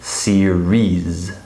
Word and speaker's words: series: And then also notice the extra vowel here, serious. And this one is series, right? So here, this one has one less syllable than this one, okay?